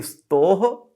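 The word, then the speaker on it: स्तोः: तो अगर आपने इसे स्तो पढ़ दिया तो गलत हो गया। इसे हम पढ़ेंगे स्तोह शुचना शुचुः।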